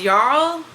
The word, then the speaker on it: Jarl: husband betrays her to, I think it's pronounced Jarl. It's spelled J-A-R-L, but I think that J is silent, I'm pretty sure.